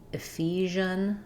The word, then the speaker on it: Ephesians: Ephesians. So we stress on the f syllable. Letters ph say the f sound. The first e says an i sound. And then letters si say the sound like in measure.